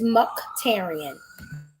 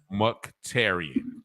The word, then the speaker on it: Muktarian: Is that how I pronounce it? It is Muktarian. Muktarian.